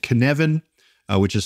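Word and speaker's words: Cynefin: tend to use snowden's framework which is called Canan uh which is spelled c y n e f i n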